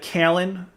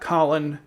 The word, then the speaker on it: Kallen: Number one, he said Kallen and not Colin, like rivals.